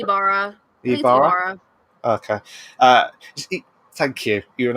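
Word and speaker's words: Ybarra: to be replaced by Jen O'Neill and Mike Wybara. I think it's Ibarra. Ibarra.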